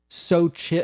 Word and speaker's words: Xochitl: So chill. It's like so chill, but so chill.